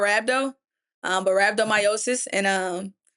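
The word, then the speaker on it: rhabdomyolysis: But at the same time, I'm I couldn't even pronounce it. Right? The short end is called rhabdo. But rhabdomyosis, and it's basically where my bloodstream just kind of got a chokehold.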